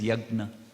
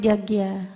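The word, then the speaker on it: yajña: say it is yagna the pronunciation is yagna not yagya no ohna okay thank you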